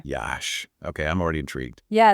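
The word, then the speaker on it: Iași: a city with character pronounced yah by the way Yash okay I'm already intrigued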